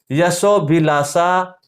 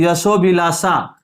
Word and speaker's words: यशोभिलाषा: जैसे दोनों शब्द मैं बोल रहा हूं, यशोभिलाषा, यशोभिलाषा, देखो यशो अभिलाषा, यहां तो अ दिख रहा है आपको, लेकिन यहां अ दिख नहीं रहा है, तो यहां पे अ साइलेंट है, यानी यहाँ पे अ लुप्त है, छुपा हुआ है, तो वो बोलते समय अपने आप प्रकट हो जाएगा।